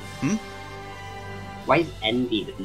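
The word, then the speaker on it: enby: Why is Envy the name for non-binary? Because it's the, it's basically the vocalization pronunciation of the letters N and B.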